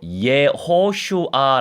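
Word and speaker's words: יהושע: 하는 영적인 지도자가 있었죠 이 여호수아는 히브리어로 이에 호 슈아 라고 발음합니다 이예 호호 슈아 라고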